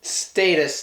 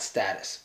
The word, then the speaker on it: status: And status, not status. But I'm gonna still say status.